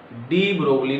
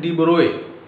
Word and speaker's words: de Broglie: इनके नेम को प्रोनाउंस करते हैं डिब्रोए। डिब्रोगली स्पेलिंग के अकॉर्डिंग है, वैसे बोलते हैं डिब्रोए, तो हम इसमें डिब्रोए भी कह सकते हैं या एज पर स्पेलिंग डिब्रोगली भी कह सकते हैं।